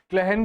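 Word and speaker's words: clachan: क्लहन भी होता है एक नगरी को ही हम कहते हैं। इसकी स्पेलिंग आप अच्छे से देखिए।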